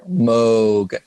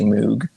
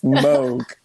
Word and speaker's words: Moog: this so at this time she met robert moog um it is pronounced i think people get mad if you say moog so i learned that i mean on the